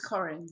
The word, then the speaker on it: Corinne: It's Corinne, I hope I pronounced that right. And she is from Masks for Extraordinary People. It's Corinne, right? It's Corinne.